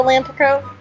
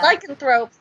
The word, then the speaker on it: Lycanthrope: Did you know, fun fact, that Fernier was the one who turned Remus into a Lanthrope? Yes, I do know that. I can't say that word. But Lycanthrope? No. Yeah. Lycanthrope.